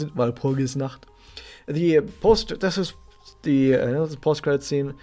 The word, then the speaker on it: Walpurgisnacht: By the way, once again, this is how pronounced it, Walpurgisnacht.